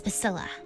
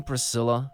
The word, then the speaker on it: Pasilla: what's your name kiddo if you must know it's pasilla are you sure you don't mean Priscilla do I look like the kind of person who can't correctly pronounce their own name what's your name smarty